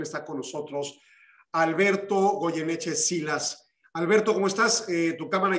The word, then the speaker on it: Silas: Y normalmente en México yo lo pronuncio como Sillas, pero el origen es irlandés y sí se pronuncia Silas.